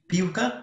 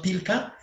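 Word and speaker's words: piłka: it is softy version soft version of l in polish so we we pronounce it piuka not pilka but like like uh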